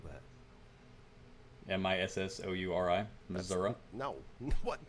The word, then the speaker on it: Missouri: lined up first one is going to be Missouri Missour mour as the F from round a say mour which I don't mour how would you even spell that m i SS o u r i Mur no what m Missouri you you're up